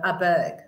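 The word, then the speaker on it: Åberg: That he pronounces it Aberg. Aberg. The little A, the little S thing on the top of the A is that it's an A bug.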